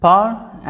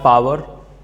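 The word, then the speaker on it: power: इसका जो right pronunciation होता है गाइस, आपने इस तरह से करना है, इसको बोलना है पावर, डब्ल्यू को साइलेंट कर दीजिए, पावर।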